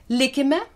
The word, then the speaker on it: lìkime: The Lithuanian accent is free and mobile. Any syllable can be stressed. I'll read it loud. Listen. Likime, let us stay. Likime, or faith. Likime, in faith. As you see, short stressed syllables are marked with grave accent.